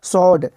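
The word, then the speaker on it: sword: तो क्या हो जाएगा सर्ड सर्ड मतलब तलवार सर्ड क्या होता है जी सर्ड एस डब्लू आ डी सर्ड सर्ड मतलब तलवार इसमें डब्लू भी साइलेंट है और आर भी साइलेंट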